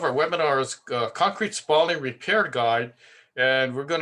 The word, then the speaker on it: spalling: of the word spalling spalling is spell sort of like uh the word falling it it's not Spalding Spalding is actually a brand of a basketball in sports so be sure to pronounce it correctly and also uh Please